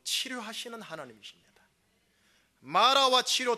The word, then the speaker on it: 마라: 마라와 치료 두 사이에 뭐가 있느냐? 예수님의 십자가의 은혜가 있습니다. 이렇게 한번, 죄송하지만 서로를 향해 축복합니다. 당신 인생은 마라가 아닙니다. 은혜 인생입니다. 시작. 발음 잘하세요. 미라가 됩니다. 미라. 마라입니다. 마라.